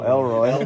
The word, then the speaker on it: Elroy: Did someone put Leroy on there? Elroy. Oh, Elroy. Oh, Elroy, like the letter L. Just L.